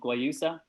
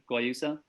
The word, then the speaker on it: Guayusa: So we're the first company in Ireland to sell a tea called Guayusa. So Guayusa, it's tough word to pronounce.